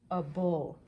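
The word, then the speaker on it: -able: It looks like the word able, but we pronounce the A with the schwa sound because that syllable is unstressed. A bull.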